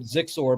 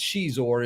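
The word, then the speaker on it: Xizor: they had prince uh i call it xor but i think it's shizuor is the way that most people pronounce it but this group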